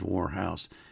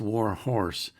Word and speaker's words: Warhorse: I said your name wrong last week. I hope you didn't notice. I said Warhouse. It's War Horse 2007.